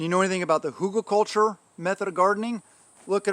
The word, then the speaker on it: hugelkultur: know anything about the hugelkultur method of gardening look it up hugo h-u-g-e-l hugo culture culture spelled like culture method of gardening um